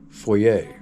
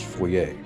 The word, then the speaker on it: Foy: to the town of Foyer, which is this right here. A lot of Americans, myself included, refer to it as Foy, but I believe the correct pronunciation is Foyer.